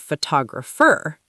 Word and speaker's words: photograph: Right, but what about photography and photographer? Oh, those sound different. Why? The stress? Exactly. The stress changes. Where's the stress in photograph? On the first syllable, photograph.